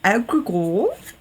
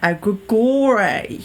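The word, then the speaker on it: egregore: want to discuss is this thing called an agore or an aggor depending on uh perhaps where you're from I think there's different pronunciations for this word but basically what it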